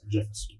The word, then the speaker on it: Jameson: A pronúncia correta. Jameson.